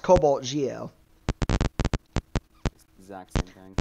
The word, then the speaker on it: CobaltGe0: out the 040 but it's not pronounced Cobalt G zero it's it's still pronounced Cobalt Geo exact same thing it's